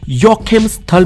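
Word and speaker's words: Joachimsthal: और इस बोहेमिया साम्राज्य के एक शहर जिसका नाम था युवाकिम स्थल जिसका स्पेलिंग तो जे से शुरू होता है लेकिन यूरोपियंस जे को यह बोलते हैं यानी कि बोहेमिया के शहर योकिम स्थल में उस समय एक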